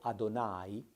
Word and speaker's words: Adonai: testamento quello che abitualmente nella tradizione ebraica viene pronunciato adonai il tetragramma sacro significa io sono il gesù